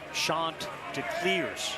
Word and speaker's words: Chanticleers: Oh yeah, Kevin Schnall's running around making sure it's Chanticleers, C-L-E-E-R-S. Don't mess it up.